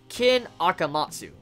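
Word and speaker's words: Ken Akamatsu: certain Monga whose name I'll help you to pronounce since his Works have always been great kin akamatsu akamatsu ever since our last conversation I was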